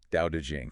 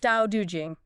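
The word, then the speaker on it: Tao Te Ching: just for the listener that's pronounced um Dau Jing Dau Jing yeah and lousy is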